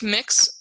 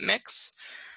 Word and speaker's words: Mx: which is MX it's it's pronounced mix this site says it may be pronounced schwa which I have never heard ever just pronounce it mix it's an honorific much like mr.